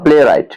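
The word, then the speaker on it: playwright: Next है आपका प्ले राइट। पी एल ए वाई आर डब्ल्यू आर आई जी एस टी। यहां भी W silent है।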